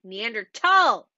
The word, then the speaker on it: Neanderthal: and all that um it was named with the h and it will forever have that h but when you say it it is a hard t neanderthal make sure you say